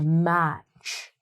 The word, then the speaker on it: match: You take the "t" out, and you don't even worry about that little guy there. The "t", he's off, man. He's out of here. He's just, like, "See you later, C-H. You guys do the job."